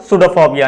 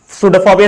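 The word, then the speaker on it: pseudopodia: It contains false feet called सूडोफोबिया। यहाँ पर P silent है, तो इसके एक फॉल्स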